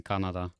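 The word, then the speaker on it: Kannada: Oh yeah, I always thought it was funny that there's a language called Canada, but it's not spoken in Canada. Canada is how you pronounce Canada.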